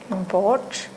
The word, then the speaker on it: import: Okay, import. How it is used? This is in a noun's place. Okay, So the stress is on the first syllable.